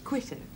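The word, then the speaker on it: Quito: how far quto Ecuador quo that's how the natives pronounce it live my life there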